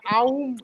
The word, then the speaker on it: ওম: এরকম উচ্চারণ হবে না ওম এরকম উচ্চারণ হবে না ওম উচ্চারণ হবে ওটা ওমই উচ্চারণ হবে ওম ও ও আর